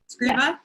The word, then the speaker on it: Scriba: Did I pronounce that right today? Scriba?